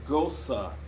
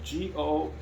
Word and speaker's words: Gose: to pronounce it is ghosa so g-o-s-u-h is the correct way to pronounce it so gosu is the